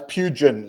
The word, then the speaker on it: Pugin: It's Pugin, like plugin.